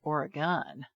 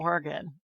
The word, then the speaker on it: Oregon: for all those years, I used to say Oregon, and then I learned when I lived in LA that it's Oregon. So I'm glad going to hear that Portland, LA gets it right. Oregon.